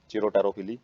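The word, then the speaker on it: chiropterophily: तो बैट के द्वारा जो पोलिनेशन करवाई जाती है उसको चिरोप्टेरोफिली बोलते हैं, चिरोटेरोफिली, पी साइलेंट है इसमें।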